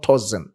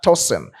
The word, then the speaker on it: Tosin: I have to pronounce the name very well because people are very specific with the pronunciation of the toen is not toen but toen.